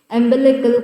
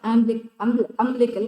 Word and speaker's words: umbilical: You can pronounce it in both the ways, umbilical cord or umbilical cord.